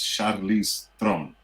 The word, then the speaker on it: Charlize Theron: Her name is pronounced like this. It's Charlize Theron.